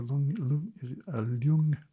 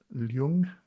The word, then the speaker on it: Ljung: and then you say the type is Ljung, I think that's how it's pronounced, Ljun.